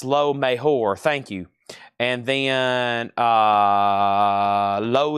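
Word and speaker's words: Lo Mejor: J is H in Spanish. Low Mejor de Kiss. And then Jerry Rock on Blondie. And then Noah Colwell on the Eagles. And then Leslie next on Blondie. It's pronounced Low Mejor.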